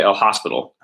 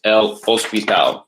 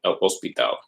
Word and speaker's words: el hospital: Okay, it's El Hospital. That H is silent. El Hospital.